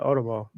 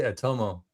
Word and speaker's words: Otomo: Yeah, Otomo. Oh, Otomo. I need to start pronouncing it correctly then. I always say Atomo.